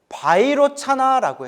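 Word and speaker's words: वैरोचन: 비로자나를 인더산스크레트어 원음으로 바이로차나라고 해요. 무슨 나? 바이로차나. 바이로차나를 중국 한자로 비로자나네 글자로음을 따서 한자로 번역한 거예요. 비로자나. 원래 발음은 바이로차나.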